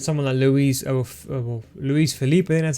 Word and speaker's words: Luiz Felipe: rather go with some of the louise of luiz felipe that's how you say his name if you